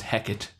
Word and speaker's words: Hecate: quite so profoundly shake I'm gonna go with the Shakespeare pronunciation which I looked up which is Hecate it's how Shakespeare pronounced it and the old